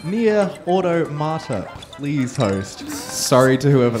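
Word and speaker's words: NieR:Automata: I have a $16.18 donation from Anonymous, just saying, it's pronounced Nier Automata.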